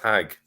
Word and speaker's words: Hajj: first of all the the way the word Hajj is pronounced in Egypt and Yemen is exactly the way it's pronounced in Hebrew it's still pronounced hag the first thing which